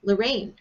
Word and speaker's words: Lorane: And it's the second syllable of my name. It's Rain, Lorraine.